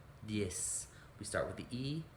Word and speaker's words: y: in spanish dies e the word for and in spanish is just a y and it's pronounced e and then the number